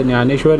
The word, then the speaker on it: ज्ञानेश्वर: start करते हैं संत न्यानेश्वर जी के यह 20 कॉइन है संत ज्ञानेश्वर जी के ठीक है एक्चुअली डी इनका साइलेंट है तो संत ज्ञानेश्वर जी के नोएडा मंड के